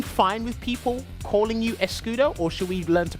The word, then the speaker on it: Escudo: The S basically in Escudo is more like a sh sound, like escudo. Okay. And like, it's coming from Portuguese.